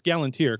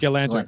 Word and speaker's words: Galanter: Dave Galantier, I'm probably pronouncing his name wrong. It's Galantier, correct, James? It's Galanta, I believe. Galanter, sorry.